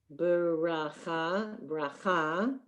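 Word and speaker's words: ברכה: Okay, and as you notice in Hebrew, a lot of the words are pronounced emphasis on the last syllable. So you have bracha, tzedakah, berit, shema, kedusha.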